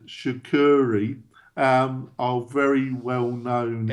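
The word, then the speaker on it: Sucuri: I utilize two now sh I'm going to butcher their name shakuri um are very well known s u c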